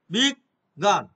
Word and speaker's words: বিজ্ঞান: যেমন আছে বিজ্ঞান, বিজ্ঞান, এই যে বয়সের বি, এইটা আমি উচ্চারণ অনুযায়ী বিগ গান, বিগ গান।